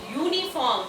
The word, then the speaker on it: uniform: No, you have to see the pronunciation of uniform. When you say uniform, it sounds as if it starts with Y, because Y-O-U is U.